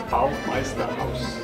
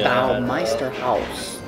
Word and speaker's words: Baumeisterhaus: How do you pronounce the name of the restaurant? Baumeisterhaus. Baumeisterhaus? Thank you. Baumeisterhaus. And then there's Wayne who puts his twang on it. Baumeisterhaus? No, Baumeisterhaus.